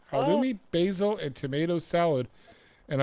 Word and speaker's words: Halloumi: I saw on page 27, how do you pronounce that word, Marlene? Halloumi. Halloumi, basil, and tomato salad.